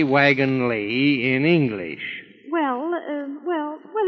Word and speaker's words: Wagon-Lits: dear this is the wagon Lee office why it's spelled wagon lits I know it's spelled lits but over here they pronounce Lee oh I begin to